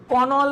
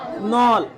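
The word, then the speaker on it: knoll: আচ্ছা নল বান দেখো কে এন ও এল এল কনল বলবে না কিন্তু কি এটা নল আচ্ছা কেটা কি সাইলেন্ট নল মানে কি জানল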